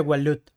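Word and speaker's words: Waloed: Es que ahora se pronuncia Walut.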